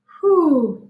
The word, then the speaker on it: who: It's very tricky because if we were to try to sound it out, it would sound like this. Wah, ah. That's not how we pronounce it. The word is who.